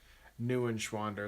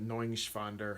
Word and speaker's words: Neuenschwander: gonna sign off now how do you pronounce my last name nu inch wander it's probably not the proper German swiss-german way to say it but knowing shvonder is probably the right way but newish wander is how how we pronounce it you can go